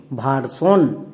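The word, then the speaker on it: version: সবাই জানি ওয়ার্ড প্যাটারেন শব্দের একদম শেষে একদম শেষে দেখো এস আই ও এন আছে তার আগে বানান করে নাও ভি ভি এর জন্য ভই আর এর জন্য হয় আর তাহলে কি হল ভ প্লাস আর ভার এবার চলে আসো একদম শেষে এস আই ও এন এটা কি ওয়াট প্যাটেন এর জন্য কি হয় সন তাহলে সন বসিয়ে দাও এবার একসঙ্গে উচ্চারণ করো ভারসন সো এস আই ও এন দেখতে পেলে আমরা সন ইউজ করব ক্লিয়ার কিন্তু এস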